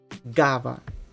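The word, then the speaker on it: гава: It's pronounced like g. G. Like in the word gava. Gava, which means crow.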